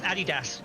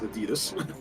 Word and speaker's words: Adidas: the or Adidas no NOP it's Adidas cuz it was um the the founder was called Adolf dasler Adas yeah in in America we pronounce it Adidas well in America we are apparently wrong not rare ruined